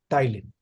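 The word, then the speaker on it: ptyalin: अब स्पेलिंग शुरू होती है P से, टाइलिन, एमाइलेज या टाइलिन।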